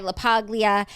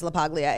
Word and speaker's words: LaPaglia: So SI Swimsuit and Brianna Chickenfry LaPaglia have Oh, wait. She pronounced her name in the video. Hold the G.